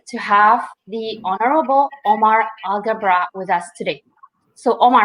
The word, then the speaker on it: Alghabra: I come out on the end and I pronounce it so it's algebra yes Agha brah perfect work awesome I'll keep that in mind